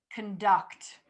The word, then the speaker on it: conduct: So prefer, conduct, conduct. Okay, so all of those are going to have like very little emphasis on the first syllable and then more emphasis on the second syllable, okay?